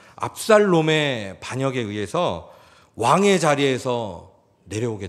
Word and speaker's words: 압살롬: 반역에 있어요 아들입니다 압살롬입니다 발음 잘 하셔야 됩니다 압살롬 리을입니다 압살롬의 반역에 의해서 왕의 자리에서